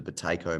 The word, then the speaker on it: Buteyko: And I would also recommend looking into the Bateko method as well, which is spelled Buteyko.